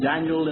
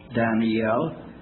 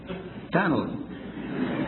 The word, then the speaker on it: Daniel: but you know that the Hebrew word Daniel has three syllables Daniel the English word at least two Daniel but Moody pronounce it with one Danel oh come on now